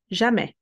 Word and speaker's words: jamais: The S should be separate. It doesn't have a vowel to be pronounced. It's going to join the previous syllable, but being dropped. Jamais.